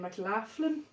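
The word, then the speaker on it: McLaughlin: three is Mr John mclan now this is how we pronounce his name in Ireland mclan I've heard American saying mlin oh did so I'm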